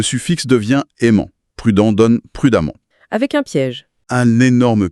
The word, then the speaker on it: prudemment: Prudent donne prudemment. Avec un piège. Un énorme piège, qui est phonétique. Dans les deux cas, on prononce amant. Ah oui, c'est vrai. Constamment et prudemment se prononcent pareil à la fin.